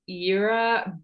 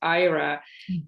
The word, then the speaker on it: Ira: The way it is pronounced is Era, but and so it's a European name, and in North America, it's not known as a female name because it exists as a male name in North America, and it's pronounced as Ira. But in Europe, it's a female name, and it is pronounced as Era.